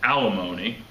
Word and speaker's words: alimony: Antimony rhymes with alimony.